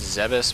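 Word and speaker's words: Zebes: by the way everybody she pronounces zebus but in my opinion it's it should be pronounced zebs just doesn't sound right if it's zevis come on quite frankly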